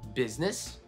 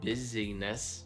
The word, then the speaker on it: business: Business. It's not busyness, right? It's business.